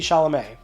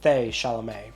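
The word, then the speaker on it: Chalamet: go hideo kajima and Timothy Shalom or timoth shalam however you pronounce that apparently he is okay with you saying it both ways didn't know that I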